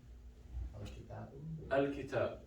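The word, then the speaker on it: الكتاب: Al-kitab. So same thing, we pronounce the lam.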